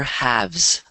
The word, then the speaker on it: halves: Ah, the lower halves. Halves. There you go. Halves. Okay. Yeah. The L is silent.